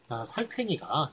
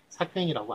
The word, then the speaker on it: 살쾡이: 이거는 이제 살쾡이가 맞습니다. 그래서 발음을 다 살쾡이라고 하기 때문에 삭괭이라고 안 하기 때문에 살쾡이가 맞고요.